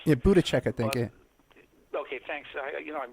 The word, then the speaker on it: Buttigieg: I've never heard it pronounced. Yeah, Buttigieg, I think.